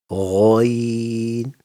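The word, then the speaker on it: غين: lesson When you pronounce Ghayin the sound begins heavy and then it becomes lighter like Gha Gha Ghayin When you pronounce Ghayin the sound begins heavy and then it becomes thin Now say Ghayin again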